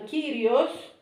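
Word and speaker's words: Κύριος: Cosmos is like the heavens, cosmos, and Kyrios, this you can read as an I, Kyrios, it means Señor or Lord.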